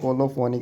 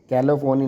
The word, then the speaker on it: colophony: Drug that is द कोलोफोनी के नाम से जाना जाता है। यहां पे स्पेलिंग में मिस्टेक है कैलोफोनी नहीं है। कोलोफोनी है तो इसको चेक कर लेना।